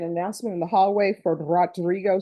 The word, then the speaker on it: Rodrigo: Did somebody make an announcement in the hallway for Rodrigo Soto? And roll your R.